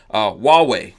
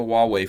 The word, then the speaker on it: Huawei: do it maybe in this last couple minutes wall way does anyone does anyone out there have a huawei phone who has a wall yeah whoa whoa